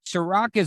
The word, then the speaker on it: Serak: type my name in which is sorak it's s-e-r-a-k yes i know unfortunately not spelled like the liquor but i promise you that tastes just as good um yeah just type